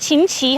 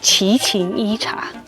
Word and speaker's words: Chichén Itzá: Is it “Chin-chin” or “Chi-chén”? Chi-chén… Apparently I kept saying it wrong yesterday— it’s actually Chichén Itzá.